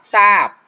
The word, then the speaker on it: ทราบ: นึง ก็ คือ คำ คำ ที่ มี พยัญชนะ ต้น ตัว หน้า เป็น ทอ ทหาร กับ รอ เรือ หรือ ทร ตอน นี้ นะ ครับ เรา จะ อ่าน ออก เสียง เป็น ตัว ซอ นะ ครับ อย่าง เช่น รับ ทราบ เนี่ย จะ อ่าน ว่า รับ ทราบ จะ อ่าน ออก เสียง ตัว ซอโซ่ แทน นะ ครับ อย่าง เช่น